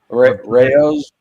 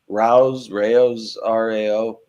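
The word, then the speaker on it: Rao's: Rayo's, Rao. It's spelled.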